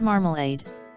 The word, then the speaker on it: marmalade: The word marmalade, for example, has 3 A's in it and every one had a different sound.